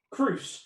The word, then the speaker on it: Crous: Matt, how do you actually pronounce the name again? Crous.